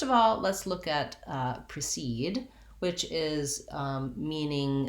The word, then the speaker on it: precede: In precede, because it has second syllable stress, the clear vowel E, like the word seed, is in the second syllable. And this syllable is longer, has the clear vowel, and then the E in the first syllable says the relaxed vowel I, precede.